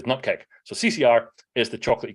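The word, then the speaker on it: nupkg: So CCR is what I refer to as the correct way of saying Chocolatey Community Repository, much like the correct way to say Nupkeg is Nupkeg.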